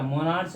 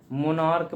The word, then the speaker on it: monarch: जैसे होता है आपका मोनार्क, होता नहीं, MONARCH, इसको क्या मोनार्च नहीं पढ़ा जाता, मोनार्क पढ़ा जाता है कि नहीं?